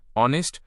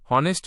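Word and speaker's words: honest: এই উদাহরণের দিকে লক্ষ্য করুন, দেখবেন এখানে অনেস্ট শব্দের অ্যাচ উচ্চারিত হয়নি। অ্যাচ এর পরবর্তী ভাওয়েল অ দিয়ে উচ্চারণ শুরু হয়েছে। সঠিক উচ্চারণ অনেস্ট হনেস্ট নয়, তাই অনেস্ট এর আগে এন বসেছে।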